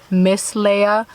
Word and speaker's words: Miss Leia: And if you're wondering how it's pronounced, it's Miss Leia. Miss short for miscellaneous, as in I make different kinds of videos.